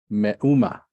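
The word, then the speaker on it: מאומה: So this is where you're going to put your emphasis is on the U vowel. It's a mem. So it's meh. Mm-hmm. U. Meh. U. Because the aleph is silent.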